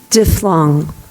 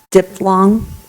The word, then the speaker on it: diphthong: the blue tape please diff long dip long that's another way it's pronounced diphthong can you please repeat